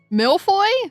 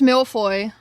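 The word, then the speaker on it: mille-feuille: How do you say that? Milfoy. I was close. Hey chat, listen. Listen. hear me out. I was close. It's pronounced Milfoy. I was close.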